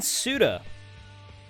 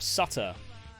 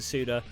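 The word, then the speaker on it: Suter: Madison's Wisconsin we have Ryan suda or Sutter that's sudo it's only one one t Ryan suda look at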